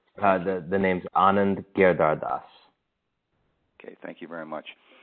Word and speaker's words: Giridharadas: name so uh uh if you could just pronounce your last name for us correctly uh the the name's Anand gardas okay thank you very much now first off